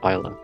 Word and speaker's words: Isla: It is Isla. It is? It's Ayla if you're pronouncing it closer to the Japanese name, but the etymology of her name in English is Isla. Because it's like I, like the affirmation, like, say I if you agree.